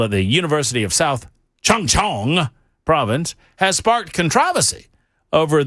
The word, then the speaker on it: Chungcheong: So, it's South Chungcheong. Something like that. like I'm making fun, but I'm not making fun. That's the name of the province. A recent festival at the University of South Chungcheong province has sparked controversy over the sexual objectification